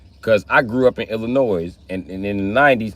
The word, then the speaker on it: Illinois: It's Illinois. It's not Illinois. Illinois is the wrong pronunciation. Bitch, I'm from Illinois. I know. It's called Illinois. Ask anybody what I L stand for. They going to say Illinois with a S. The S ain't silent, motherfucker.